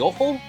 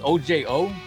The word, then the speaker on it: Ojo: But here it looks like we have the return of the Ojo. I don't know if she's Hispanic or not, but that's how we would say it. It's OJO.